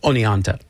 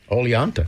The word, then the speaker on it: Oneonta: research last night because when you look at it it doesn't sound like it's spelled like it sounds. So, I watched a couple of YouTube clips and I I realized it was Oneonta.